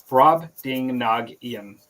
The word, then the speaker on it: Brobdingnagian: Tim says it's pronounced Brobdingnagian. Brobdingnagian.